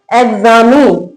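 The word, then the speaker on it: examine: एग्जामिन। क्या पढ़ेंगे इसको? एक्सपेंड। यहां एक्स का साउंड आएगा, यहां एग्स का आएगा।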